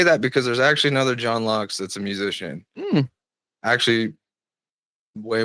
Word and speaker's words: John Laux: It's Oh, my I'm John Locks.